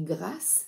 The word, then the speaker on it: Gras: savais pas que l'auteur moi je prononce Stéphanie grass parce que je trouve que c'est plus joli que gras puis grass ça me fait penser au sud de la France avec les parfums in